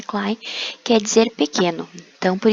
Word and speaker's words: Klein: E Klein em alemão, né, pronuncia Klein, quer dizer pequeno.